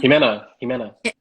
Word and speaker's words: Jimena: Am I pronouncing her name? Shamina? Jimena? Jimena. Jimena.